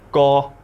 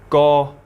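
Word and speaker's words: 個: word number 10 is go. Go. Go. It's tone number 3. It's a flat mid-tone, very easy to remember.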